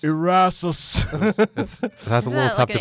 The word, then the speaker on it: Erasus: Erasers? Erasus. That's a little tough to pronounce.